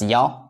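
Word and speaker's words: 幺: So in that case, we need to read number one as ya. So here I answer that question. Why and when is number one read as ya?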